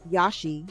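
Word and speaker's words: Iași: The destination, Banca, Transennylvania in Yashi, that's pronounced Yashi, Romania.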